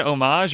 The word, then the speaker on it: homage: think it definitely an homage what's the how do you say that homage or homage I think if you're douchebag you say homage yeah so homage uh